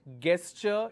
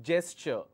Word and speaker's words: gesture: called a quarantine gesture it's not --guest sure it is gesture okay it's not ger